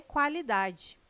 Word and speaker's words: qualidade: O QU não é dígrafo, não é pronunciado com um som único. O quá traz um ditongo, dois sons UA.